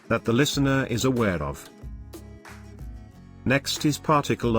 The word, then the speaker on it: を: is used when the word it follows is a topic that the listener is aware of. Next is particle o. Particle o. In writing, it is wo in hiragana, but pronounced as o.